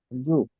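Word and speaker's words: づ: And what is the actual pronunciation of this kana? Z. Z, right? It is D-Z-U, Z, okay?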